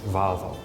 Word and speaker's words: Volvo: is very clean o I also heard that pronounced in America as valvo I think it also depends on your accent